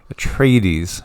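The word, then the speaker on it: Atreides: tells the story of Paul at trades at trades rhymes with pl8s a brilliant and gifted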